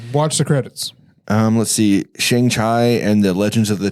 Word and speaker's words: Shang-Chi: Shang-Chi and the Legends of the Ten Rings. Shang-Chi. Shang-Chi, sorry. Shang-Chi and the You say Legends of the Shanghai?